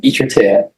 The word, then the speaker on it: Echartia: How do you pronounce it? Echartia.